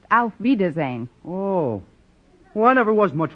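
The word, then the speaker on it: auf Wiedersehen: very nice kind stretch actually the word you have in mind is pronounced out wiedersehen whoa why never was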